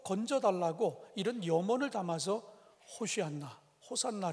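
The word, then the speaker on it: הושענא: 118편 이 15절에 등장하는데 히브리 어로 발음할 때는 호시 않나 라고 이렇게 발음합니다 그런데 이 허쉬 않나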